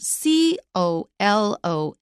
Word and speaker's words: colonel: Now, first of all, the word kernel is pronounced the same as a rank in the military, which is spelled C-O-L-O-N-E-L.